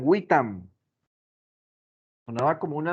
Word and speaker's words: vitam: ellos no decían vitam, ellos decían witam.